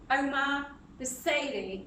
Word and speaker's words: Omar Busaidy: So please welcome Omar Busaidy. Yeah. Did I pronounce that right?